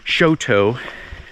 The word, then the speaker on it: Choteau: Welcome to the Bob Marshall Wilderness area here outside of what we found out how to pronounce is Choteau, Montana.